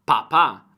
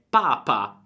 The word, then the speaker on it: papà: Il papà, molto importante l'accento sulla A, papà, altrimenti è papa, cioè come Papa Francesco, ma noi vogliamo dire papà, cioè padre.